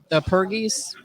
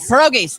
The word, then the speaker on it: pierogies: said is going to go on, is the pergos. I can't even pronounce it. Pergos and scallops. Can't even think of it, but that's my favorite. Pierogies.